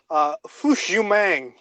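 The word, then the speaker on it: Fush Yu Mang: Smash Mouth debut album foosh you mang and which i think is how it's pronounced it's basically you man said through completely cut out so no it's it's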